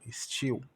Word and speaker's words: still: Então, ainda still, o L com o som de U, still.